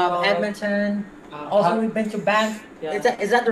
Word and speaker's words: Banff: Also, we've been to Banff. Yeah. Is that the right pronunciation?